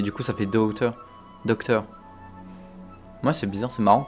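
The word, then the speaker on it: Dottore: Mais il prononce docteur, c'est marrant que.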